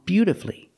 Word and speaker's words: beautifully: beautifully and wonderfully again these words have two syllables before f u l l y and the stress is on the first syllable so the U is silent example he played the